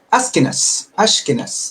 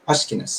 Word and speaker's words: Ashkenaz: El término es Ashkenaz, así se pronuncia, Ashkenaz.